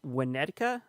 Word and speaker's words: Winnetka: It's actually in Winnetka. I think that's how you pronounce it.